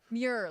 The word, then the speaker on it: Muir: If they want, if David, how do you pronounce the guy's name? Muir.